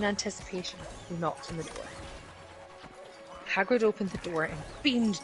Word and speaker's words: Hagrid: believe it is of Eastern European Origins so Hagrid would be the uh correct pronunciation yes I assume you're aware what uh